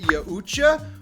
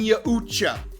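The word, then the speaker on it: Yautja: race small tangent time in my last video i pronounced it yaucha which is how i have pronounced it for decades however there were a slew of comments saying i pronounced it wrong but the thing is every one of those comments had a different proper pronunciation it's a fake word from a comic book i'm saying yahucha anyway after that spectacular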